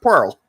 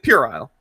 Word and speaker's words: puerile: Yeah, he believes that is pronounced Pearl. It's puerile.